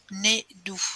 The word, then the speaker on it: Nédou: Comment ça s'écrit? N-E accent aigu D-O-U. Nédou.